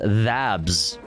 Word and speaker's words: THABS: Pronounced THABS, which is dedicated on July 8th to the